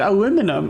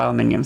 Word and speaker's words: aluminium: But it's okay, I found out that you can pronounce it in multiple ways, and we're good. Now I call it aluminium still.